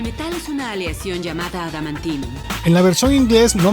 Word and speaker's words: adamantium: en esta parte si se cometió un error de doblaje al tratar de pronunciar literalmente adamantium cambiándolo por al amianto el metal es una